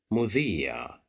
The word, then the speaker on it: مذيع: Here we have the letter ba controlled by kasra and followed by ya, so that's why we'll pronounce it with a long vowel. طبيب. مذيع مذيع مذيع.